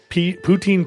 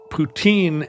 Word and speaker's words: poutine: Poutine PS is that the pronunciation of Poutine and the last name of the Soviet dictator. There now is a president, Vladimir Putin. And it's not the fake one they tricked George W. Bush with. It's the same exact pronunciation.